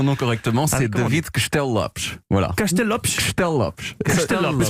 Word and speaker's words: Castello-Lopez: Alors, si vous voulez vraiment prononcer mon nom correctement, c'est comment David Castelllopes.